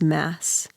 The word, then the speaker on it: Mads: m a DS yeah so in Denmark that's Mass oh really but I don't know if it's the same in Norway or not it probably is I would imagine who mass mass yeah don't pronounce the d yeah okay fun fact